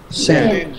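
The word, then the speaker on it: sechs: Sen. H is silent.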